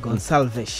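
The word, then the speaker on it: Gonçalves: nini huyu Pedro mio kireno inatamkwa Gonalvesh ehe eh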